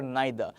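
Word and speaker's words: neither: अब देखो, द thing is कि जब भी आप इसको इंडिविजुअल वर्ड के तौर पे पढ़ेंगे, तो इसको इदर या नीदर नहीं बोलेंगे। इसे हम बोलेंगे आइदर ऑर नाइदर।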